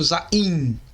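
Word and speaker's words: זין: Podemos encontrar em outras fontes seu nome como sendo Zain. Contudo, a pronúncia correta é Zain. A forma simplificada dessa letra que você pode treinar é essa daqui. E o valor fonético dessa letra é muito semelhante à letra Z.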